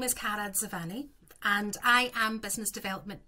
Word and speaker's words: Dzivane: Do you pronounce the D in Dzivane? You go Dz. Dzivane. Yeah, that's it.